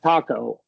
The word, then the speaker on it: taco: Yeah, taco is is a really good example that the reason it sounds so butchered as the opposed to the Spanish taco because we close that longo at the end, right?